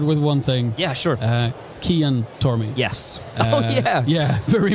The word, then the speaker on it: Cian: Yeah, so Kian, it's an Irish name. And in Irish, in our language, the C is a hard C.